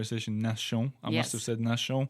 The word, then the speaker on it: Nation: going to the Metro Nation yes yes and so let's say it's in French it's actually this T is pronounced like double s i n yeah absolutely